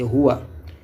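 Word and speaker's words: هُوَ: C'est Huwa. La prononciation c'est en bas ici Huwa.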